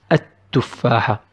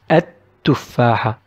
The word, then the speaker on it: التفاحة: we'll pronounce the word التفاحة. التفاحة. We will not pronounce لا. It's not ال, it is ات.